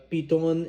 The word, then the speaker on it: Piton: I gotta say it like that because that's how they said it when I was in St. Lucia on my honeymoon. Now the cool thing about Piton is that it's only